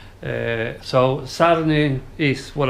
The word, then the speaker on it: Sarny: So Sarny is what I think it's called.